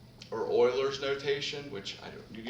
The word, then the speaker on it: Euler: we said we normally use of x or euler's notation which i don't you don't need to